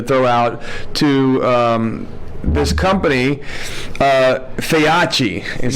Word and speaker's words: Feyachi: So tonight, we have, first of all, huge thanks that we like to throw out to this company, Feyachi is how you say it.